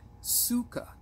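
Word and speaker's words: sukkah: Hebrew language it is plural for the word Suka spelled s u k k a or sometimes it is spelled c k k ah just like sukot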